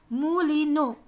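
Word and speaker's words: Moulineux: his name is leon mu lino leon mulino m-o-u-l-i-n-e-u-x it's pronounced as mooli no so leon molino is a poor person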